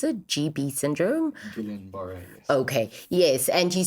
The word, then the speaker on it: Guillain-Barré: So you faced a life challenging and changing period where you were diagnosed with, I don't know how to really pronounce it, GB syndrome. Guillain-Barré, yes.